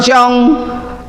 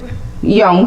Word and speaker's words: Jung: lot of time reading the works of Carl Jung the Swiss psychologist and psych analyst and young thank you very much the wait the